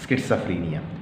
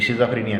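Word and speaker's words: schizophrenia: बेटा इसको ज़रा प्रोनाउंसिएशन दोबारा सुने, स्किट्सोफ्रेनिया, ये शिज़ोफ्रेनिया नहीं है, ठीक है।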